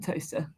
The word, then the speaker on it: Towcester: So basically, I refuse to move to Milton Keynes, and so we're now living in Toaster. Going to be living in Toaster. Toaster. Yeah, Towcester.